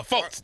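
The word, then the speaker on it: Markelle Fultz: the kid out of Washington oh yeah that's Marquel folz there you go folz that's his yeah yeah yeah Mar fols is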